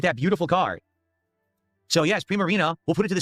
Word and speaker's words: Primarina: But yeah, my Primarita I always forget. It's all good. Look at that beautiful card. So, yes, Primarina.